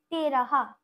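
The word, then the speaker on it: तेरह: ত একার র আর হ, তেরাহা, তেরাহা।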